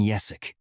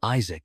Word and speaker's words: Yesak: great demon king, King Yesak. Even though his name is Yesak, these guys usually pronounce it incorrectly and call him Isaac instead.